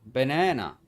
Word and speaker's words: banana: The stressed syllable, the a sounds like n. For the unstressed syllable, the a sounds like uh uh banana.